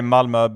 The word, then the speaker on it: Malmö: So it's Malmo. Yes. Malmo. Yeah. I would say Malma, but but your your your way of saying it sounds nicer.